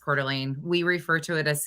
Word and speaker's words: Coeur d'Alene: they enjoyed a barbecue it's Coeur d'Alene that's how it's pronounced it's spelled it's French I think is what it is and it's pronounced Coeur d'Alene we refer to it